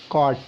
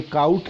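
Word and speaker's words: caught: सो कॉट, ये काउट नहीं है, sometimes the students pronounce it, उसको प्रोनाउंस करते हैं काउट, so this is कॉट।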